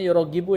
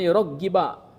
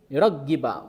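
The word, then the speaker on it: يُرَغِّبُ: Wauragibu n ini tadi Kang Isan bacanya yuroggibu, ya. Yurogibu. Nah, harusnya yuragoggiba soalnya aya harakatan tuh kan. Makanya tadi saya dengar yurogib kan tadi kalau enggak salah ya. Harusnya jangan yurogibu tapi yuragiba makubnya ke an yuroggiba yang pertama ya.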